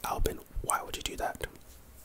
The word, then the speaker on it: Albin: s s q lbb111116 all of this is pronounced Albin like I'm not kidding it's pronounced Albion a-l-b-i-n again it's it's a mystery and